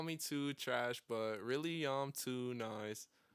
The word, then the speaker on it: 222trash: too trash, often mispronounced as 222 trash, but the first two and the last two are silent. It's just the middle two that says two.